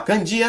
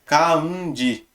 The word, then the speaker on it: kanji: Então, por exemplo, kanji, que a gente fala kanji, isso é kanji. Na verdade, a pronúncia é kanji.